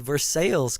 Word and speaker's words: Versailles: Well, actually Versales, Kentucky. That's spelled like Versailles. Um, speaking of France, um, and, uh, but, uh, yeah, we pronounce things a little bit different here.